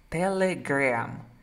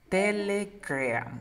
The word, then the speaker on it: Telegram: Es una E que se transforma en A. Mira. Telegram. Telegram.